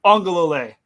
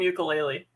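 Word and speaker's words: Uiagalelei: Uwe Ungalale. I'm going to keep calling him ukulele.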